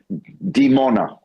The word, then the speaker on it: Dimona: Dimona? Dimona. Are you getting any reports on a nuclear reactor in Israel there in Dimona? No, I haven't heard any reports on that. Dimona is where our nuclear reactor is.